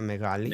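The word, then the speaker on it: μεγάλη: Megali meali. Yes. Big. The L is a bit the you you gave it a dark quality.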